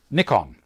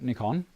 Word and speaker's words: Nikon: Well, I relate it to Nikon. In Australia, we call it Nikon because that's how the Japanese pronounce it. In the States, they say Nikon because only one K following. If there was two Ks, it'd be Nikon for them. But we understand that the Japanese say N-I.